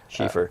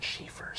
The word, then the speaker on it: Schiefer: Schiefer. Schiefer. Yeah, there's no way. I know. It's German, so the second letter gets pronounced.